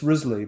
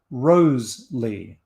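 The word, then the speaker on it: Wriothesley: of men to women modern scholars pronounce his name as risley but there's a lot of evidence that shakespeare and others pronounced it rose lee and that the male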